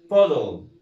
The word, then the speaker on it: bottle: بودل. اسمها ايه؟ بودل. بودل اللي هي الزجاجه. وحرف التي طبعا في الانجليش بيبقى اشبه نطقه زي الدي، بس بيبقى ايه؟ مخفف شويه.